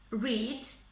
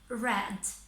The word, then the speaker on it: read: In the present tense, we say read, whereas for the past tense and past participle, we use it as red, just like the color, yeah?